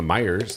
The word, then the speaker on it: Myers: hey we're going to Myers they'd say there's a Meer there Myer it's a dialect thing that's all it is they're still saying it wrong they just say it in their own way how do you guys